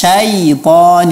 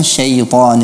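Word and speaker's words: شيطان: dengan Fatah air wudhu Billahi minas syaiton nirojim bukan Syaikhon nirojim Kemudian untuk cara Muhammad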